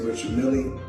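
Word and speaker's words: Richard Mille: Some say Richard Millie. Myself, I say Rashard Mill, because that's what I was told in 2012 when I first purchased the watch.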